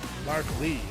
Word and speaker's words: Larkley: Hey, Larky. Larkley, excuse me.